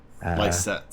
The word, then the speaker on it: Lycett: Oh, I thought you meant like Joe likes it. Oh no. Ly Likes set. Cet.